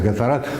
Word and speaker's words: Gatorade: Вы можете использовать Gatorade, или как он у нас правильно произносится, Гаторад.